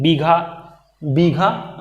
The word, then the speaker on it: बीघा: देहाती भाषा में उसको बिगहा बोलते हैं, लेकिन बीघा जो है कि वो शुद्ध उसका उच्चारण है बीघा।